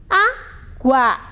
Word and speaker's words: água: Água. Professora, mas GU não é dígrafo? Não, quando está aqui, ó, olha quando eu pronuncio, ó, água. Eu escuto aqui a letrinha U e o A separado.